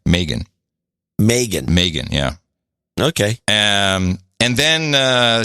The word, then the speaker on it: Megyn Kelly: I've learned how to pronounce it. Not Megan. Megyn.